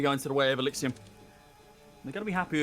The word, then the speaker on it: Exillium: I've been told to tell you that it's Exillium. It's pronounced Exillium. What do I keep saying? Ellipsium? Exillium? Well, Exillium it is.